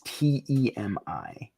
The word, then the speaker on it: Temi: spell that again? You're Almiraj. A-L-M-I-R-A-J. And his name is T-E-M-I.